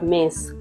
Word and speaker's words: Metz: la ville de m au fait moi j'appelle ça m alors que eux-mêmes ils appellent ça mess donc muse se trouve